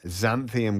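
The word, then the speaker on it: xanthan: a few tips to yeah go all right xanthium gum that's the one you're going to see in a lot it's spelled with an x x a n t h an gum xanthium gum is how you pronounce it so again salad dressings sauces GL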